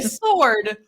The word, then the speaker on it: sword: A sword.